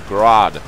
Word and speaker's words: GRAD: need more explosions destroy the grad or Grodd how it's supposed supposed to be pronounced also that is this